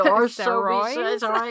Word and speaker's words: Saoirse: Oh, yeah, Saoirse. Yeah. Just so people know who you're actually referring to because you pronounced it perfectly.